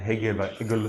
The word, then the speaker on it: Hegel: like no, chirp, and Hegel say like some friends pronounce it like think about a frozen eagle, like an eagle flying in north of Sweden, and it's frozen, and you can compare it with Apostle John, perhaps.